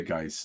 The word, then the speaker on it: Guice: So I saw his name in credits way more as Butch Guice. Moving on, but at this point, he's Jackson. This is his. It rhymes with nice, so we'll say Guice is fine.